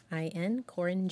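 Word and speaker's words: Qorin: That's spelled Q-O-R-I-N, Corin Jones.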